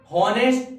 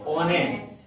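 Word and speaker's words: honest: ऑनेस्ट पढ़ते थे ना, हॉनेस्ट तो नहीं पढ़ते, क्या पढ़ते? ऑनेस्ट।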